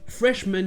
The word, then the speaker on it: freshman: J'en ai parlé dans l'épisode sur la prononciation de men, ici il n'est pas accentué, donc c'est men. Freshman.